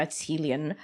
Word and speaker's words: Qilin: having me Wizards of the Coast went with Kieran but are there other names that people are